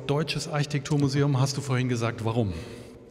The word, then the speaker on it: Deutsches Architekturmuseum: lief im deutschen Architekturmuseum Betonung liegt auf deutsches Architekturmuseum hast du vorhin gesagt